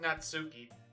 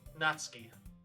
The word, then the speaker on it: Natsuki: It's not Natsuki, it's Natsuki. I'm gonna pronounce them right. Except for Sayori. Sayori still stays the same because of the R. But Natsuki is the one that's gonna be different.